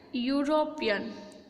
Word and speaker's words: European: That word is start from a vowel, but when we speak this word, it's like European.